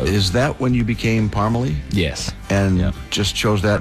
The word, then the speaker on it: Parmalee: town is from spell it's spelled p-a-r-m-e-l-e but pronounced parmalee which i have no idea how that worked